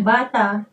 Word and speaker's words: Bata: tulisan d e Ada bata juga you Baca bata Yes Nah kalau Indonesia Bata itu ya bata bacanya